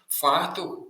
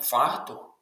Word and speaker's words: фартух: Фартух донести обіцянка. Запам'ятайте, не фартух, а фартух. Наголос на другий склад.